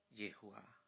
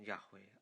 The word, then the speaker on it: Yahweh: dirinya dengan satu nama yaitu Yehuwa atau diucapkan jahwe atau lafalkan jehovah dia memproklamir Inya dengan